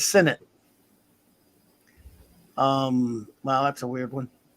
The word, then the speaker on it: Sinnott: And I hate when I say Sinnott because you're not supposed to say that, but it's a habit. It's Sinnott.